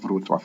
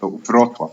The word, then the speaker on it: Wrocław: I keep thinking that Wrocław has an accent on the O, but it's not Wrocław. It's Wrocław, not Wrocław.